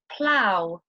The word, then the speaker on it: plough: ough can also be pronounced like the ow sound in the words plough, bow.